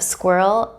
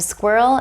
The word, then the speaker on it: squirrel: The dark L, also called the velar L, sounds like it comes from the back of the throat.